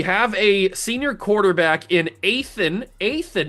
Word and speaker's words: Athan: We have a senior quarterback in Athan, not Nathan, Athan Kaliak Manis, I'm pretty sure that's how you pronounce it.